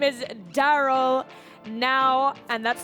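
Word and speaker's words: Nau: his name is daryl now and that's spelt n-a-u but it's pronounced now because he's right here right now daryl welcome to the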